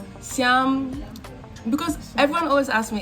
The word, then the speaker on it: siyam: Siyam. Siyam.